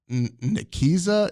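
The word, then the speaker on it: Nicieza: was written by Fabian and I'm G to mispronounce his last name I'm just saying that right now and I apologize uh nikisa it's ni c i e zaa okay so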